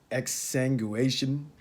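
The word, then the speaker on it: exsanguination: for me to pronounce this word here x exsanguation excuse me on the pronunciation there but it's e x s a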